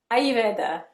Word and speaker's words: Ayurveda: I've practiced saying that because I can't pronounce it properly. So many people say it so many Ayurveda.